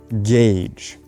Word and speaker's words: gauge: is a perfect example g-a-u-g-e gage it's not pronounced gauge or golgi or any variation of this gauge for example you